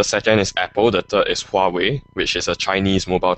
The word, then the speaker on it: Huawei: that um the second is apple that is huawei which is a chinese mobile company wow um are you sure you're pronouncing it right is it far away or is it it is huawei dammit i can never pronounce it i'm chinese